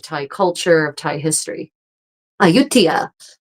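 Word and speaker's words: Ayutthaya: Aayutia, which I think everyone would probably normally except for Thai people pronounce as Aayutaya is one of those amazing medieval capital ruins that has was abandoned.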